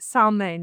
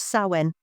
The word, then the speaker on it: Samhain: help me pronounce it saline. Is that right? No. The M is the M is actually weirdly silent as you know a lot of a lot of Celtic words are.